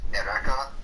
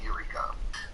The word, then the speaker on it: Eureka: Alright, patch 4.25 will be about Ereka, for those of you who like to hear it in Japanese. In English, it's pronounced Eureka.